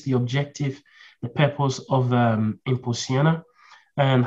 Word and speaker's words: Impulsiona: That's a very good Portuguese pronunciation, yeah. Is that? That's Impulsiona? Good. Impulsiona, perfect.